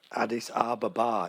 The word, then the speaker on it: Addis Ababa: Addis Ababa. Addis Ababa, it's pronounced.